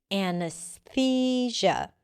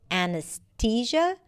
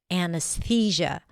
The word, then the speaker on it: anesthesia: Anesthesia. You might even hear people saying it with a t sound, anesthesia. But usually it's pronounced with a thousia. Anesthesia.